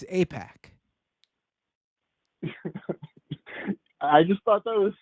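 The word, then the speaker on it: AIPAC: I believe it's IPAC. Have you heard of this? Oh, right. Right. I think it's APAC.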